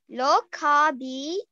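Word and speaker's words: లోకాభిరామం: Loakaabhiraamam. Loakaabhiraamam. So the B has a bit of a ha sound.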